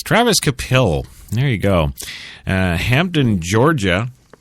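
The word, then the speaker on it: Travis Kvapil: The V is silent there. So it's Travis Kapil.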